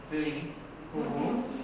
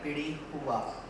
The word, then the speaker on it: Bili Hu: It's actually pronounced as Bili Hu or Bili Huwa. Different dialects, of course, across Karnataka.